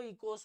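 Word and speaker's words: οἶκος: कि इकोस और नोमोस, यहां पर ओ साइलेंट होता है इसलिए इसका प्रोनाउंसिएशन जो है वो इकोस होता है, राइट।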